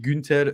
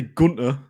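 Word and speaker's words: Günter: Lucas Klosterman and Christian Günther as well is there. Why is it so funny? That's how you say his name. I'm not going to say Gunter.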